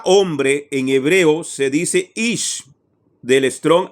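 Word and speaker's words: אִישׁ: La palabra hombre en hebreo se dice ish, del Strong H 376, del Gran Diccionario Enciclopédico de la Biblia, no del Strong.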